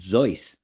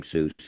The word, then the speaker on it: Seuss: believe it was, and it's actually pronounced Zeus. But he didn't bother correcting anybody and became Seuss, and that's who it is.